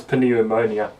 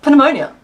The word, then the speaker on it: pneumonia: heard you laughing at also it's ponia no it's pneumonia P ponia pneumonia pneumonia easy because knife gnome and